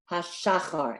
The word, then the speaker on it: birchot hashachar: So birchot hashachar, and then I would put the accent on the first syllable, hashachar.